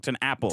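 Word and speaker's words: TenNapel: His name is like Tenapple. 10 apples.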